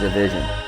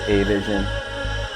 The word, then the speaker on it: Avision: this one so the correct way to say my name is the vision a lot of people say a vision I've heard a vision division that's it very simple